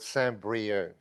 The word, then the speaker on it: Saint-Brieuc: I'm from a town called Saint-Brieuc, if you want it to be pronounced correctly.